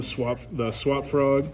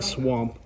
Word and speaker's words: Swap Frog: So from there, this is to make the swap frog. I always say it wrong. I keep saying swamp.